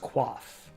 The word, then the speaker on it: coif: Coif is pronounced quaff.